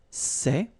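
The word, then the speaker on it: ces: same way all right for the plural form so masculine plural it would be say okay and then feminine plural good news it's the same so we've got one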